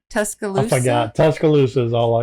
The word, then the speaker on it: Tuscaloosa: In Tuscaloosa, is that how you say it? Tuscaloosa.